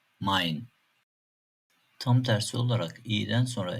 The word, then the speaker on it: Mein: E ve i harflerinin kombinasyonu da "ay" şeklinde okuyoruz. Örneğin "Nein, Mein".